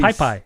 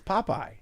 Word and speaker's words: Popeye: pie pie yeah really pie pie no it's popeye bully that's bully baoli